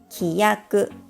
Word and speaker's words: きやく: For example, kyaku consists of 2 molars. Kiyaku consists of 3 molars. These two words may look similar in writing, but they are completely different words in different sounds and meaning.